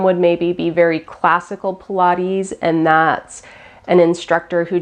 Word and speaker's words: Pilates: a quick introduction to Pilates so if you're completely brand new and you didn't even know how to say the word then you've just learned it it's Pilates and it's the last